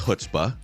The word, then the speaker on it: chutzpah: the question is is the C it is pronounced hutzpah HSPA so the sea is silent got a